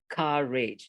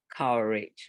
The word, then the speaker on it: courage: a English teacher but courage sounds like courage not courage right there's although it's that way then oh you avoid that because that seemed to be the general Indonesian way of pronouncing where an OU sounds spelled that way restaurant sounds like restaurant